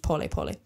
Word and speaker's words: pole pole: po spelled like pole pole in English but pronounced po po it's Swahili in the Swahili language which is